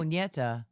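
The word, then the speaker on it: Ñeta: Neta, it's Neta, but you know how the N has that. Okay. Originated. Oh, Nieta.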